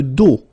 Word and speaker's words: dos: Le dos. Le dos. Final S not pronounced.